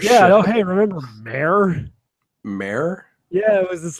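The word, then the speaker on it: Mär: That's how you spell it. Mare.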